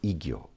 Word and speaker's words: Igyo: And I-san, Kyozan, taking the first letters I and Kyo together, is pronounced Igyo.